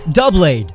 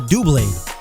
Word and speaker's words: Doublade: Doublade, double blade. Why are people calling it Doublade?